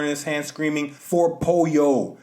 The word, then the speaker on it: pollo: his hand screaming for Poyo but Pollo in Spanish is spelled p-o-l-l-o he's screaming for Poyo